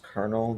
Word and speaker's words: Colonel: Is it pronounced Colonel? This word always messes me up. Yeah, Colonel 99.